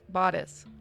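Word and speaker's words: bodice: Bodis. Oh, bodis is how you say it.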